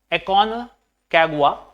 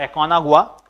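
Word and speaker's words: Aconcagua: Mount एकोनकागुआ और एकोनागुआ, ठीक है, जो भी प्रोनाउंसिएशन आप लेना चाहें वो ले सकते हैं, ठीक है, ये स्पेनिश प्रोनाउंसिएशन है।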